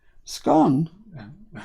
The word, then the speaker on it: scone: Scone? It's scone or scone, isn't it? Well, it depends where you come from in the country, in England.